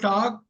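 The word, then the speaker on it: talk: எல் வந்து சைலெண்ட் புரியுதா எல் வந்து சைலெண்ட் டாக்குன்னு படிக்கணும் எல் சொல்லக்கூடாது உச்சரிக்க கூடாது ரைட் இந்த படிச்சிடக்கூடாது சோ டாக் டாக்டு டாக்டு docking tax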